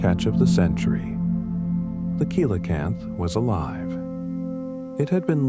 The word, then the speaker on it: coelacanth: The coelacanth, pronounced coelacanth, was believed to have gone extinct with the dinosaurs 65 million years ago.